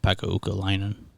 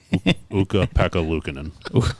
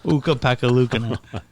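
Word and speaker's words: Ukko-Pekka Luukkonen: They gotta hope Pekka Ukalainen pans out. Yep. Is that how you say it? That's not even close, no, is it? No. Uka Pekka Luukkonen. Uka Pekka Luukkonen.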